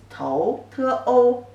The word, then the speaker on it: 头: written like this, and the pronunciation is 头, 头, second tone.